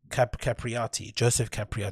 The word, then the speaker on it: Joseph Capriati: Joseph Capriati, that's how you pronounce his name.